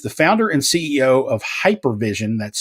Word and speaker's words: HYPERVSN: He's the founder and CEO of Hypervision. That's spelled HYPERVSN.